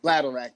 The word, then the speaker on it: bladderwrack: Yeah, sea moss with bladderwrack. It's okay. BLANDDR I'm about to spell it wrong. Bladder rack though. It's like bladder and rack.